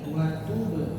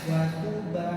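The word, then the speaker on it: وَتُبْ: sekali lagi wa tub. Wa arina manasikana wa tub alaina. Hati-hati jangan condong ke fathah, jangan wa tuba alaina wa tuba ya, jangan wa tuba alaina wa tuba ya.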